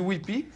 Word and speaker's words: Kewpie: Kewpie, mais c'est Whippy, on dit Whippy.